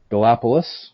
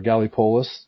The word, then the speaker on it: Gallipolis: and it goes to a town called galapolis or gallipolis depending on how you want to pronounce it and it's like a